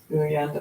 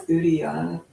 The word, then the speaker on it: uddiyana: Engaging your bandhas and mula bandha, your pelvic floor, and uyyana bandha. I should really figure out how to pronounce that, but your bandha in your lower belly. It's uddiyana bandha.